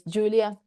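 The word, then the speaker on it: Giulia: The way my you read my name, which is spelled this way, is Julia. Just the Italian way of spelling it, but please call me.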